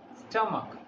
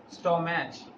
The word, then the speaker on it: stomach: We pronounce it stomach. We pronounce it stomach. But many people pronounce it stomach, which is very wrong.